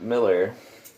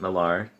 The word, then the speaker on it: Millar: thunderbolts and that was a case where Mark Miller some people pronounce it Millar but I've heard it to actually pronounce Miller's